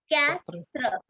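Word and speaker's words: quatre: through up next number is four which is pronounced as Catra okay cra cra so how do you uh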